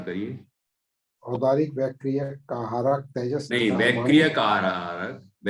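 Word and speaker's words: वैक्रियिक: शेषाणाम सम्मूर्छनम, शेषाणाम सम्मूर्छनम, औदारिक वैक्रिक आहारक तेजस कर्माणि शरीराणि, थोड़ा सा और अच्छा उच्चारण करिए। औदारिक वैक्रियक कारक तेजस नहीं, वैक्रियक कारक, वैक्रियक कारक, वैक्रियक कारक तेजस कर्माणि शरीराणि कर्मणानि, कर्मणानि शरीराणि।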